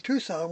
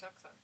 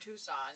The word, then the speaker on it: Tucson: He's the one that called it Tuxen. Yeah, he called it Tuxen by the way, which is uh the way that D would say it.